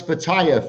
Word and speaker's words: Pattaya: that can you pronounce pattaya for us now is Pattaya there's no I in Pattaya it's not the tire change my boy Graham